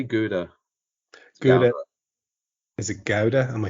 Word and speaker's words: Gouda: Chèvre, Brie, Gouda, or Feta?